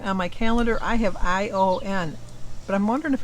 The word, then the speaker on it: Ian: Because I know, like, on the 90210, it's spelled I-A-N, and it's not Ian. He goes by Ion.